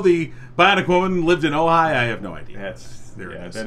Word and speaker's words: Ojai: Oh, it's Ojai. Ojai. Yeah. Ojai.